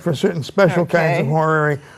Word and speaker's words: horary: I said that right horary yes horary would be a British pronunciation Americans pretend to say